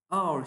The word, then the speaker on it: hour: Bu kelime yazılışı sessiz harfle başlıyor. H yani H harfiyle E hour şeklinde kullanmamız yanlış. Çünkü bu ismimin telaffuzu şu şekilde hour şeklinde yapıldığı için yani sesli harfle yapıldığı için telaffuzu önünde N kullanmam gerekiyor.